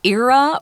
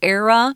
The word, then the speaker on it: era: Now, before we move on to this, let's look at this word era or era. You can pronounce it either way, E-R-A.